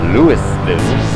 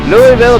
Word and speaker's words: Louisville: from Lou Ville Kentucky took me a couple of times to learn how to pronounce that correctly I was calling it Lewisville much to my shrin Louisville Kentucky future home of